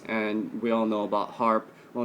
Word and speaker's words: HAARP: with different frequencies and we all know about HARP well not all of us but you know hopefully uh it's spelled h-a-aarp and they have different stations uh